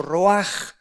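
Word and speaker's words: רוח: Y como la etimología de las palabras, tanto la palabra nepesh como la palabra roach o roaj que se pronuncia en el hebreo, nos muestra que son dos cosas diferentes.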